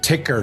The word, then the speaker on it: TYKR: So before ticker, now did I pronounce that correctly? Ticker. That's you did like like a ticker symbol on a roll stock market.